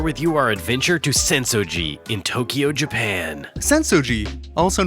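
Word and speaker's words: Sensō: translate to shallow grass senso comes from the Chinese pronunciation while asakusa comes from the Japanese pronunciation but that topic is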